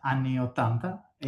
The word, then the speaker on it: Anni 80: Is it Ani 80? That came out in September? Yeah, it's an Italian title. Yes, it's Anni 80, Okay, any, perfect. Yeah, any thank 80. you. Yeah. But it's you pronounce it perfect.